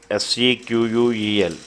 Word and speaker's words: SQL: SQL can pronounced as SQL. SEQUEL.